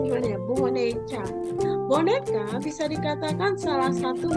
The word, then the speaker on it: boneca: Bacanya gimana ya? Boneca.